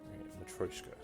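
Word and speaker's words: Матрёшка: I practiced it. Matryoshka. Matryoshka. Matryoshka. It sounds way more Russian, Matryoshka, than Matryoshka, which is what I was saying before.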